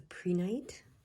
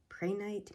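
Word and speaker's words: prehnite: how it's pronounced uh it's p-r-e-h-n-i-t pray night pre-night it says it helps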